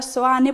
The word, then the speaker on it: Seoane: co nome da vila, chamada Seoane (pronunciada Soane pola maioría dos veciños), que vén do sintagma latino SANCTU IOHANNE, en referencia a san Xoán o Bautista.